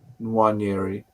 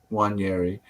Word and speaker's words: Nwaneri: Ethan, and how do you pronounce it, Ryan? Nwaneri. Nwaneri.